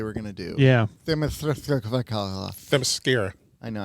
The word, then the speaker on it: Themyscira: Themyscira. I know, I can never pronounce it right. It's Themyscira. Themyscira.